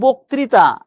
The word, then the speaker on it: বক্তৃতা: আমি উচ্চারণ করছি বক্তৃতা। আমি লিখছি এভাবে বক্তৃতা। তিনি বক্তৃতা দানে পারদর্শী। এবার আমি যখন লিখছি বক্তৃতা বক্তৃতা বানানটা আমি কিন্তু এইভাবে লিখেছি। কিন্তু একটু খেয়াল করে দেখেন তো আপনি যখন উচ্চারণ করেন আপনি এইভাবে উচ্চারণ করেন কিনা বোক ত্রি তা